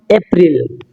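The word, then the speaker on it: April: সো নট আর টলবি much much much ঠিক আছে তো আমরা বলতাম এপ্রিল এপ্রিল এখানে এপ্রিল হবে না এটা হবে এপ্রল এপ্রল এপ্রল আমরা এ বলি না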